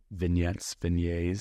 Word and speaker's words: vignettes: 3 or 4 different, vignettes. Totally. whatever you pronunciate. Rhymes with beignets.